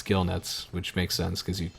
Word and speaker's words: gill nets: you remember her research gill nets that's right I pronounced it correctly this time I can you believe it for like a year I was proud to get Jill nets hey I got that